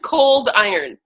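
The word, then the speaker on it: Coldiron: It is just cold iron. So it's just two simple, 2 4-letter words, put them together.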